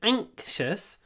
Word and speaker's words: anxious: exam tomorrow I'm anxious in the word anxious we have the a ank sound ank ank ank tip of the tongue behind the teeth an anxious I'm anxious